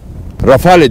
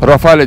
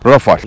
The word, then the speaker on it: Rafale: olarak anlatırım ama bakın rafale diye yazılıyor ve birçoğumuz bunu rafale diye okuyabilir ama Fransızcada Rafael Renault bu konuda biraz değişik